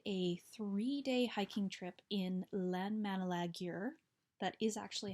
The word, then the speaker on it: Landmannalaugar: and I did a three-day hiking trip in landmannalaugar that is actually how you pronounce it and yeah I did a hiking